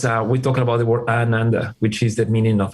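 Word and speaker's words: आनन्द: Have to be careful to pronounce Ananda for those who are hearing this. Is Ananda. Right. Because you say Ananda is misery, and you don't want to invoke misery. So the pronunciation of the Ananda is important to put it out because that's joy.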